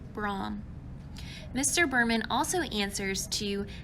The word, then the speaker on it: Bram: Not many people know this, but Bram is actually correctly pronounced Brahm.